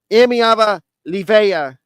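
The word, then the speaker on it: Iamaleava: I've been really impressed with Tennessee and nio amava Lea yes I've been been I've been practicing I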